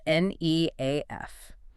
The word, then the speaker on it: NEAF: see the acronym spelled n e a f. And while you should definitely know the community pronounces it NEAF, yes, with a long e, I strongly prefer to use its majestical full name.